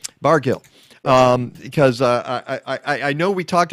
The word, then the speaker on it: Bargil: And now you have people like Ari, and I forget, is it a soft G or a hard G, Ari? It is a hard G. Bargil.